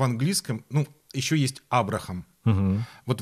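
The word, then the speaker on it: Abraham: английском Ну еще есть Абрахам вот в английском очень часто H не произносится поэтому слово которое пишется Абрахам оно звучит как Абрам Авраам линко например вот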